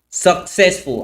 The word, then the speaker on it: successful: Successful. Allí cambiamos un poco el acento. En vez de pronunciarlo en la segunda sílaba, lo pronunciamos en la primera.